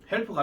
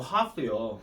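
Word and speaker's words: half: 또 반칸다고 잘못 들어 또 룸이요 이렇게 하지 말고 이거요 이거 헬프가 아니고 하프요. 하프.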